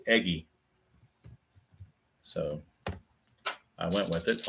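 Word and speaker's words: Eguy: I When I first started this replay, I didn't know how to pronounce that name, and people have told me it's pronounced Eggy, so I went with it.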